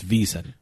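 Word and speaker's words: VSiN: Network reason so that's I want to be correct when I pronounce this I don't I don't say out the whole vsi n it's visa I say visa I thanks a visa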